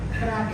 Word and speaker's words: Braque: ¿Se pronuncia Braque? Braque, sí.